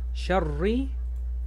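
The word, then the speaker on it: شَرِّ: Wa min sharri shin fata sha ro. Y si estaban conmigo con el shadda, el shadda hace doble letra, shar, shar, y cuando esta tachita está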